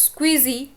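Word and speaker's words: SCSI: हो ठीक है next S सीएसआई port pronounce स्क्विजी इसको आप इसकी फुल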